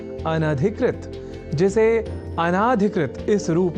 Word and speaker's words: अनधिकृत: पर हम जब न या अन और अधिकृत इन दो शब्दों से मिलकर बने अनधिकृत शब्द के अपने संप्रत्यय को दृढ़ कर लें